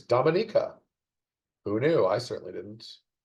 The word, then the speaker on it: Dominica: Another fun pronunciation one. I always thought it was Dominica, the small island nation. No, it's Dominica.